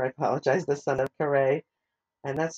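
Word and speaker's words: Kareah: that wrong earlier I apologize the son of karay and that's spelled k a r e a h and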